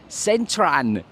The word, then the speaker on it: Central: So that man wasn't wrong, because in Thai language this is in fact Centran, because the L at the end is pronounced as an N.